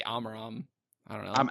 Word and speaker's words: Amaram: I think mine do switch, because I don't know, but I'd probably say Amaram. I don't know. I'm Amaram.